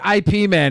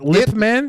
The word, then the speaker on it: Ip Man: I said IP Man. How's it pronounced? Is it Lip Man? Ip Ip Man.